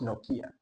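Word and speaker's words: Nokia: as well it's a city yes it's actually pronounced noia noia yes you can be serious say noia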